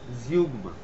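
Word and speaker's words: zeugma: অন্যভাবে বলা হচ্ছে ঠিক আছে আচ্ছা তারপরে হচ্ছে জিউগমা চার নম্বরে রয়েছে উচ্চারণটা জিউগমা জিউগমা টা কি জিনিস জিউগমা হচ্ছে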